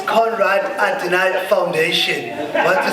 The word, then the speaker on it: Konrad Adenauer: So also, it's Konrad Adenauer Foundation. It's fine. Scanswena ka pronounce ki, you know, Ndoka. So it's it's Conrad Adonai Foundation.